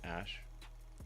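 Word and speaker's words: Æ: X um and then the AE is like pronounced Ash um what yeah that's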